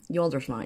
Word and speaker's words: Yoldersma: Yoldersma is how you pronounce that crazy last name of mine.